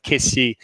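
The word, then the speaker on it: Kessié: name is frank kisia he calls himself kissy but uh there's an accent on on the e and every french broadcaster i've i've worked with has always called him kissy and i was at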